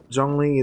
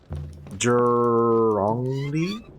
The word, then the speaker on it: Zhongli: Also, I think, so Tayu said ZH is pronounced like Jur. So, Zhongli is Zhongli? But when you say it fast, it sounds like a J, so it's Zhongli.